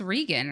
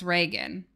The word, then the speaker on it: Reagan: I saying it right it's rean right oh it is rean but it's Reagan Reagan oh God I don't I I no one no one corrects me ray gun or regun yeah this is what